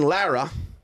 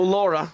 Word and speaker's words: Lara: No Laura. Lara with just an A. Yeah. Dominican name. Yeah, it's actually Lara, but I won't make you roll your R.